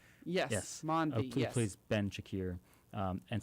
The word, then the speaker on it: Asif Mandvi: And she kind of comes into contact with David Acosta, Mike Coulter, and let me get my pronunciation, Asif Mandvi. Yes. Mandvi, who plays Ben Shakir.